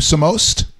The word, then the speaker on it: Samost: How do you say your last name? Samost? Yep. Samost.